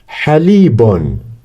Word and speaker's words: حليب: Now we put the vowels ha with fatha, ha. Li, so it needs kasra, so that we pronounce it li. And with ya, li. And this is bon, like zun and tun. Halibon. Yes, repeat with me.